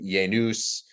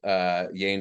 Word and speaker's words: Yanes: So, I mean, I've heard everything up to Yanus, Yanus, Yanes is obviously the most common. At my graduation, they said Yanis.